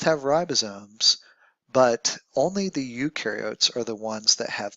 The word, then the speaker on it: eukaryote: ribosomes but only the ukar are the ones that have membranebound organel so big difference between the two if you think about it U rhymes with do and pro rhymes with no so the ones on